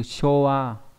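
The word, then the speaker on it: 昭和: Chiêu hòa, đọc là show trong từ showa, thời vua chiêu hòa.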